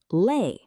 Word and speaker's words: le: A short, relaxed sound.